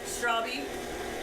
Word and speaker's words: Stravie: When they would call my name for attendance, I would always have to say Stravie and correct them because they never said it right.